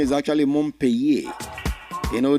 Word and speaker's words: Montpellier: The proper pronunciation is actually Montpellier. You know, the double L is pronounced like you're pronouncing Y sound. Montpellier.